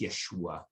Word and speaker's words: Yeshua: In Aramaic, it's Yeshua, right? But I mean, either way, you hear that Yah sound at the beginning.